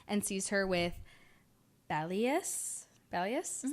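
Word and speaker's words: Bellius: into Em's store and sees her with bellus bellus is how you say it which is um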